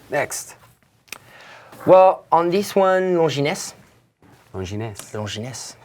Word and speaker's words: Longines: Longines? You don't have an accent on an E, so Okay. you won't have to... You cannot pronounce it like that.